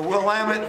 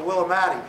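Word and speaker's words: Willamette: Will the Willamit Valley. I always call it the Willamatti, but the Wamit Valley, right, is where they went in significant numbers.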